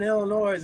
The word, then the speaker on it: Illinois: so we're driving in Illinois on the highways and most of their highways are concrete time out time out time I'm from the Midwest Bell the S is silent Illinois another noise then nature highways out